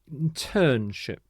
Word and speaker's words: internship: the next word is internship internship so the stress is on this middle syllable again internship and these people are